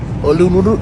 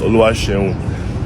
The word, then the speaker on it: Oluwaseun: "I'm sorry if I butchered this, but Olunuru." That's not my name. It's Oluwaseun.